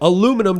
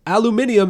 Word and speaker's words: aluminium: argument that aluminum and aluminium are both acceptable just depending depending on depending on you look at the word no aluminum doesn't make sense aluminium is how you would pronounce it it's no if you